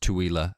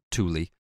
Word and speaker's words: Tooele: in a similar vein my pronunciation of Tua County which I have since come to learn is pronounced TWA and not Tuli my apologies to the